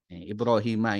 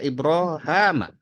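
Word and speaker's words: إبراهيم: mengikuti millata ibrahima yaitu adalah millahnya Nabi Ibrahim ibrahima ini ya menurut riwayat dari Imam Hisyam dan juga sebagian dari ee riwayat Imam Ibnu Zakwan ya dari jalur Imam eh ya Ibnu Amir ya qiraah Sabah membacanya ibrahama jadi haknya ini di fathah ibrahama maka ada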